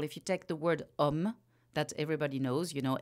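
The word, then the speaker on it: homme: yes and it's a it takes a lot of letters to write this short sound word um yeah it's never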